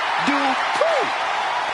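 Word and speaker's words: Dupri: Uh, Michael, it's pronounced Dri. The following contest is scheduled for one fall. Making her way to the ring from Phoenix, Arizona, Maxine Dri.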